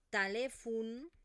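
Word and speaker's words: telèfon: Por lo tanto, la e en posición átona se pronuncia con esta vocal neutra y la o se va a transformar en una u. Entonces, no digo semáfor, sinofur. Samafur, hospital, talefun.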